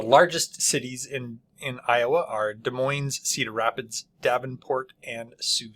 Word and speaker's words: Des Moines: People from Iowa actually pronounce it Des Moines. Whether or not that's actually how it should be pronounced, because as I understand it, it's French in origin.